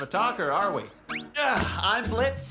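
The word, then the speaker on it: Blitzø: talker are we I'm Blitz the O is silent now I'm sure we're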